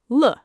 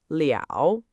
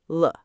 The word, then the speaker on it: 了: Le is pronounced "luh". Not "jow". Not "leeow". In this grammar pattern, it's "juh" and "luh".